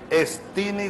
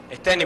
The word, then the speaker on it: Esteni: ¿Estini o Esteni? ¿Cómo es que se pronuncia? Esteni, presidente. Ah, perdón, es que vi la doble E y entonces se me pegó la cosa del inglés.